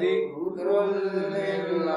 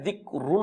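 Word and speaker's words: ذِكْرٌ لِّلْعَالَمِينَ: জিকরুললি আলামিন ইনহুয়া ইল্লা জিকরুললিল আলামিন দেখুন এখানে দিক রুন হবে না কিন্তু কি হবে র গিয়ে লামকে ধরবে যে দিক রুল ঠিক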